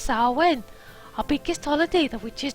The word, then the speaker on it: Samhain: "Pronounced Samhain.